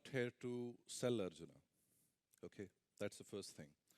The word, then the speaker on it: Arjuna: away yeah thank you so the name is Arjuna uh the way J is pronounced in German it's it turns out to